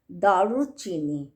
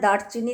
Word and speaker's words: দারুচিনি: তাইলে আমি আপনাদের কাছে প্রথম আমি আজকে এপিসোডের প্রথম যে শুরুটা করব সেই টপিকের নাম হচ্ছে দারুচিনি। আমরা দারচিনি দারচিনি বলি উচ্চারণ হল দারুচিনি হ্যা এইটা একটা গাছের ছাল